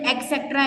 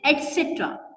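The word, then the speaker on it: et cetera: लोग बहुत बचपन से एक्सेट्रा एक्सेट्रा बोल रहे हैं, लेकिन एक्सेट्रा कोई वर्ड है ही नहीं, इट इज एटसेट्रा।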